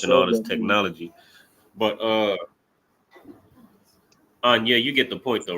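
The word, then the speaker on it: אני: But Anya, you get the point though, right? Anya is how you say I in Hebrew.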